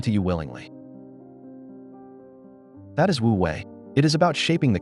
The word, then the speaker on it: wu wei: Let us now talk about wooi, the art of effortless action. This brings us to the most famous and practical tauist concept. Wui, pronounced wui.